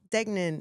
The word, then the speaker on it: Degnan: I have Sean Dgnen here in the studio.